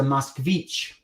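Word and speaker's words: москвич: I will say that person is a musvich. Musvich, that's how to say it in Russian.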